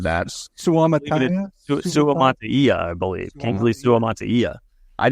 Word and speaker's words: Suamataia: Kingsley Semalatua? No, I just butchered that. Suamataia, I believe.